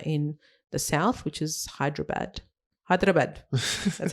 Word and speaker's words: Hyderabad: that in India, in the south, which is Hyderabad.